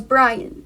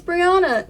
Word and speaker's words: Brianna: She couldn't say my name. I was Brian. So, which is okay, you know, I understand. So she thought my name was Brian. I was little and I'm like, it's Brianna.